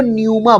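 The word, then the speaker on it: πνεῦμα: तो उसमें आत्मा को न्यूमा बोला गया, जिसमें पीस पी से शुरू होता है लेकिन पी साइलेंट है, न्यूमा बोला गया है।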